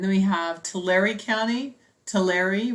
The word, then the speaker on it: Tulare: Tulare rhymes with dairy.